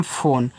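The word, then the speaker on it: phone: पे हो गया उसने पी एच ओ एन ई देखो यह आपका एक इंग्लिश वर्ड है जिसको हम पढ़ते हैं फोन तो फोन में यहां इ का उच्चारण आपको नहीं करना है पीच से फ बनाना है ओ से ओ की मात्रा लगानी है और एन से केवल ना फोन हो गया के आई वाई ए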